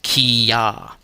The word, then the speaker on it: kia: Hence, kia is pronounced kia.